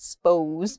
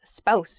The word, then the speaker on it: spouse: pronunciation with this spouse it sounds like Mouse not spose but spouse spouse is the correct pronunciation